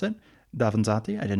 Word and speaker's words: Davanzati: I always mispronounce it. Davanzati.